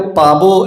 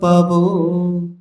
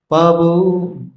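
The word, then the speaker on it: পাবো: में क्या है कि जो ब होता है ना थोड़ा सा हल्का सा ओ की तरह उच्चारण होता है तो एटली आपको पाब ऐसा नहीं बोलना है पर ओ की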